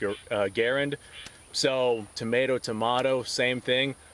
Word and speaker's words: Garand: with uh the m1 garand uh the military pronunciation was grand but john garan's name he himself said it was pronounced uh garend so tomato tomato same thing if you want